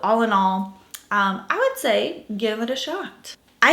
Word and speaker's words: Saie: comments about this and it's the say beauty i think that's how you pronounce this brand s-a-i-e say uh that's what i'm gonna call it sun melt bronzer so